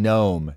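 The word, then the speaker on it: Noem: And so it said that after he did not ID himself, her name's Christine Gnome. It's spelled NEM like that. Was trying to ask the Homeland Security Secretary Christine Nomi question.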